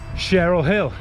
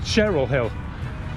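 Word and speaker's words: Cherhill: take make sake but it's savanak but like Cheryl Hill it's pronounced it's written share Hill but it's pronounced Cheryl Hill weird right let's go oh just noticed we're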